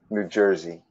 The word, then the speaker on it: New Jersey: We Oh, pronounce the R usually. New Jersey, like that.